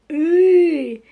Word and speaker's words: ы: Буква «ы» и звук «ы» слышится постоянно в этих словах, и они общие для всех этих слов.